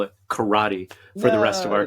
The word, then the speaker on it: karate: no actually it's pronounced karate it's just it's one for yeah yeah when people want things to sound Asian for some reason they put that stress like on that middle syllable right but anyway it's